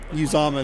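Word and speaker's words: Uzomah: Uzama is how you pronounce that last name, at least according to the commentators.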